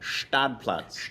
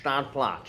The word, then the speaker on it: Stadtplatz: You can see them tonight, 7:30 on Stadtplatz, or I hear them pronouncing it Stadtplatz. Stadtplatz. Yeah, they're really leaning into the German pronunciation.